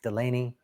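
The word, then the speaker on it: Dulaney: And Delaney, D-U-L. A lot of people will pronounce it with D-E, but it's D-U-L, Delaney, D-U-L-A-N-E-Y.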